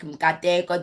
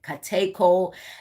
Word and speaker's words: Mkateko: the international folks were trying to pronounce names like Mkateko, they were like Kateko.